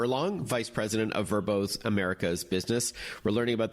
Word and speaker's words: VRBO: rebranding if I'm not mistaken verbo was once pronounced VRBO yeah that's right so we recently changed both branding the logo of verbo and the pronunciation as you said it used